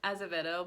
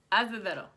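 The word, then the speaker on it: Acevedo: I can't ever say her name, because I know it's like Azevedo, but in Spanish, a lot of times you like roll like this noise. Azevedo.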